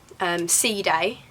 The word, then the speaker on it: Side: We went to Antalya, Sea Day was our nearest town. Like, it's spelt side though.